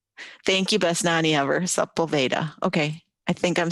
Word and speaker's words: Sepulveda: Okay, Debbie Wolgamoth says Sepulveda. Thank you, best nanny ever. Sepulveda.